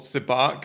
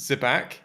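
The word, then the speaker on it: sabacc: name wrong on purpose it's called sibak and he pronounces zebac um and then lando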